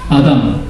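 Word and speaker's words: אָדָם: 이 사람이라는 히브리어를 하나 가르쳐드리면 이 사람이라는 히브리어가 아담. 한번 따라해 보십시오. 아담. 예, 여러분들이 히브리어 발음으로 사람이라는 발음을 하신 것입니다.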